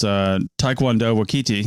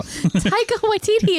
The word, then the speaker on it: Taika Waititi: apparently he's been on lots of stuff, is Taekwondo Waititi. No, I can't ever pronounce his name. Taika Waititi.